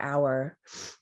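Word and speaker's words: AUAR: team or we or our sometimes i'll be referring to the team within automated architecture labs which we have shortened to aur and we pronounce as our sometimes i'll also use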